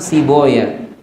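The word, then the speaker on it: Sibawayh: ulama ada belakangnya way mereka nulisnya sama bacanya dibedakan misalnya Imam sibaweh sibawaih itu ulama Nahwu bacanya Imam Si Boy karena way itu nama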